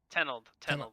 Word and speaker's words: Tenold: You're the first broadcaster to ever say my last name right. Everyone says Tenold, or like they don't say Tenold, they say Todd, or they just call me something completely different.